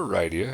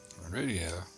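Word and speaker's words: Rydia: just like I'm Radia or Ryia if you prefer to pronounce it that way, but I'm pretty sure it's supposed to be Radia. Radia summoner Radia has joined the party.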